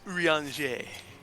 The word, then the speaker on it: Urianger: Urianger. He's got the blue quest, remember? No, it ended in ER. It's a funny kind of Frenchy pronunciation. It's Urianger.